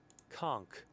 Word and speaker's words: conch: way yeah thank you for conk conk conk conk conk conk really it's conk